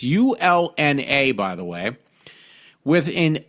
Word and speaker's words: ulna: scapula, broken clavicle, broken humerus, broken radius and urina. I can't pronounce that. It's ULNA, by the way, with an open wound and